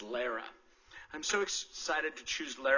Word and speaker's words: Lara: And I mispronounced it. It's Lara.